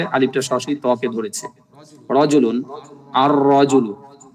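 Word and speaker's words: الرجل: সরাসরি তকে ধরেছে বলুন আরজুলু আলিফটা র কে ধরেছে লামটা বাদ পড়ে গেছে জাহারাতুন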